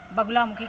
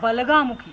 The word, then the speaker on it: बगलामुखी: आती हैं उनको हम बगलामुखी के नाम से जानते हैं। जैसे कि बगुलामुखी नाम है तो इसका जो शुद्ध उच्चारण है वो बलगामुखी है।